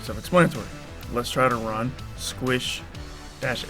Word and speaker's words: sqsh: tacbox terminal we will use the command squish okay i did pronounce it pronounce squish who use swish squishy squish swish squish an interactive sound base